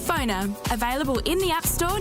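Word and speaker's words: Phonr: That's spelled PFONR. Phoner.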